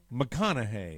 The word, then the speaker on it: McConaughey: right i thought he said mcgonagay it's mcgonagay mcconaughey mcconaughey mcconaughey yes there you go yes how about let's pronounce it the real way the way it